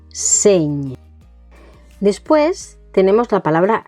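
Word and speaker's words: seny: Señ, no es seni, sino señ.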